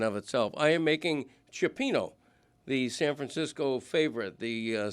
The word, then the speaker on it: cioppino: I am making cioppino, the San Francisco favorite, the seafood stew.